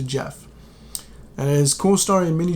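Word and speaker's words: Gef: So it's spelled G-E-F, but it's pronounced Jeff.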